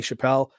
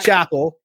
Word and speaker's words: Chappell: Like, because Dave Chappelle was very famous, everyone's like, "Oh, your name's pronounced like his," and I'm like, "It's not.